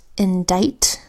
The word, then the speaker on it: indict: it's an exception here we've got indict where the C is completely silent that's another exception here